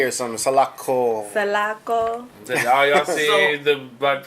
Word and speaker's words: Salako: don't want to jack up the pronunciation. Salako music.